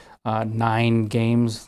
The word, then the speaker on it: NYGN Games: The name of the company was 9 Games. The name of the company is spelled NYGN Games.